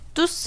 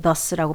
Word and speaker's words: thus: thus 아니고요. thus입니다. thus. 요게 이제 요렇게 되는 선생님 말로 이제 올챙이라고 옛날에 불렀는데 thus, this, that 할 때 그 thus라고 발음을 해야 됩니다.